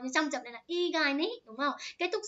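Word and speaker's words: 意外: Đấy, nên đáp án nó phải là từ igai, chữ này đọc là igai các bạn nha.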